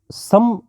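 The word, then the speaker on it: सम्: हम जब इन शब्दों का उच्चारण करते हैं तो लगता है कि संकल्प, संस्कार तो सन होना चाहिए, लेकिन ये होता सम है।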